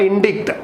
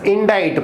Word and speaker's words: indict: It's indict, not indict. It's indict. Pronunciation, be careful here.